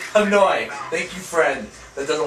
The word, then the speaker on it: Hanoi: we're playing on um hondai said it wrong tell me say it out loud what hanoy thank you friend that